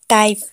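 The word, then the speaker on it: type: टाइप, टाइप में भी last में ई है तो ई का उच्चारण नहीं करेंगे।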